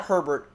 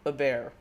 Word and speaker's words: Hebert: Is he Hebert? It's Hebert, I think. Hebert. Hebert. Not Herbert, Hebert. Hebert.